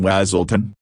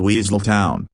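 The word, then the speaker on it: Weselton: as the nosy dominative Duke of neighboring Wazon which to his great consternation everyone mispronounces as Weasel Town.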